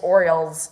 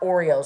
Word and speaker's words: Orioles: instead of Orioles, but it is Orioles, not Oreos.